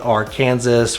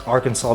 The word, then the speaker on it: Arkansas: some people is if you start calling it our kansas or saying it in some type of an of a accent that's not very friendly so i would definitely say just know how to pronounce arkansas before you get here and not call it